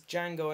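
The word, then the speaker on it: Django: uh new film called Jango Unchained Gango gang Jango don't pronounce the d you don't pronounce the d but it's Jango and chained which was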